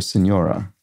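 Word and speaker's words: señora: with a TI oh Senora there we go so a tild over the N indicating it's pronounced in that kind of rounded way generational divide and age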